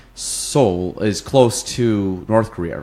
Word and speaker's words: Seoul: It's actually pronounced Seoul, 2 syllables, Seoul, Seoul.